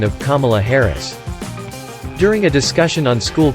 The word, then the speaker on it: Kamala Harris: It's Kamala Harris, Ron.